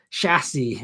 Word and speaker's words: chassis: Everyone else hits the CH so hard, and he says it so lightly, like chassis.